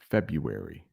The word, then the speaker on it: February: I can't remember, but that is a difficult one to spell in English because there is an R in the middle, but you don't really pronounce that R. So, February.